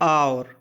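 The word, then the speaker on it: hour: आवर, आव, ठीक है ना। आवर, सावर, फिर हावर या आवर, आवर, आवर, Sawar, आवर। एच यहाँ पर साइलेंट है इसीलिए बोला साइलेंट वाले वर्ड पढ़ लेना।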